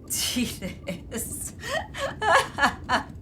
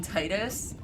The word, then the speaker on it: Titus: There are people out there who say Titus. Oh god. And the rest of us who are right and call him Titus.